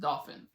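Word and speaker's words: Dauphin: because it's called but it's not spelled like a dolphin it's a dolphin it's not dolphin no it's all dolphins d-a-u-p-h-i right and it's literally like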